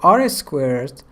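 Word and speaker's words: R²: some metrics as follows coefficient of determination or r-squared and mini squared error or MSD first we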